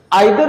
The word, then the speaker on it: either: ठीक है, चलिए सबसे पहले तो ये समझेंगे आइदर और नाइदर नॉर। इसको आइदर को ईदर भी कहते हैं और नाइदर को नीदर भी कहते हैं।